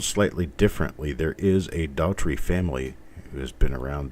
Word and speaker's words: Daughtrey: for state senate, and their name is pronounced the same as mine. They're missing the E that I have in mine. It's just Daughtrey. And because of the commercials on TV, and because it's an attorney in town, and because the name is in every graveyard in this area, it's quite common here. So their pronunciation works for me because it's, no, it sounds exactly the same.